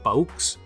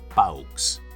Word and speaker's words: peücs: Més exemples: cafeïna, que sense la dièresi es pronunciaria cafeina; o peücs, que, si no, serien peucs.